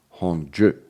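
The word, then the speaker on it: Hongzhi: other link yeah um h-o-n-g-z-h-i which uh Caroline tells me is pronounced Hong Ji I don't know why why is it pronounced hongju and the title of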